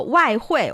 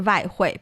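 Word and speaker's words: 外汇: So the W sound is the more formal one, but the V sound is the more perhaps colloquial, everyday spoken Because usage. it's easier to pronounce.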